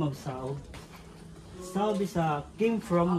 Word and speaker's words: Saob: proper pronounce it is sakob There's a letter k in a middle of a and o but during Spanish era